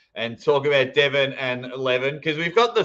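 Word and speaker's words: Levan: It really hurts my head to call him Levin. It just doesn't make sense, even though it is the right way to say his name.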